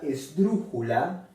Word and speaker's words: esdrújula: Bueno, la palabra esdrújula también es una palabra esdrújula porque se acentúa en la antepenúltima sílaba, ¿no? Esdrújula, ¿no? Última, penúltima, antepenúltima. Y bueno, se acentúa en la antepenúltima. Entonces lleva la tilde en la U.